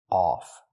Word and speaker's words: off: the word is pronounced off we cannot use the short uh sound like cup and up U the word is pronounced off we use the a sound like on off ball call Audio a a it's back